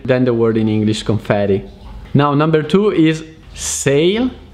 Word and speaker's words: confetti: the word confetti confetti in italian so it's pronounced confetti which is the plural of the word confetto